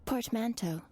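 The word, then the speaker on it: portmanteau: How do you pronounce this man? Port mento.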